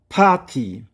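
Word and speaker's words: パーティー: 자, 그리고 파티. 파티. 여기서도 장원 보호가 들어가 있죠. 파티. 이렇게 길게 읽습니다.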